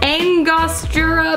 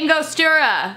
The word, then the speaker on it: Angostura: Angostura bitters? I know I'm not saying that right. I don't know how to say it. Angostura? I could Google it. Alexa, how do you say Angostura?